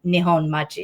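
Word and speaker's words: Nihonmachi: up going to um Nihon Machi is how you say that in Japanese.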